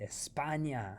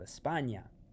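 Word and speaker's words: España: choose to say spain be sure to call it espana see they have a different name see in spanish spain is called espana notice it has that tilde espana and if you're going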